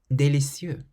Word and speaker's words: délicieux: The following words, for instance, all end with letters that are completely silent. Délicieux.